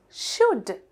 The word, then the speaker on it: should: Then we have should. Should. You should do this before tomorrow. හෙටට ඉස්සෙල්ලා මේක කරන්න ඕනේ. should කියනකොට අපිට එතන තියෙනවා ල sound එකක් ශබ්ද වෙන්නේ නැති. L එක තමයි එතන sound වෙන්නේ නැත්තේ.